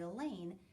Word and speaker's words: Elaine: I may be a short-timer, but you don't have to be at our school very long to know that Elaine rhymes with pain.